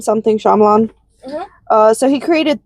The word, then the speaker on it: Shyamalan: I forget how to pronounce that director's name. Shyamalan. Shyamalan. Shyamala. M M something. Shyamalan.